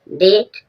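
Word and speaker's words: debt: बाद भी साइलेंट है डेट डेट डेट मीन्स कर्ज यहां पर जो बी के बाद जब टी आएगा ये टी से पूर्व भी बी साइलेंट होगी एम के बाद भी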